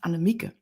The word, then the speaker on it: Annemieke: the Netherland and um it's correctly pronounced Anamika anik but yes but you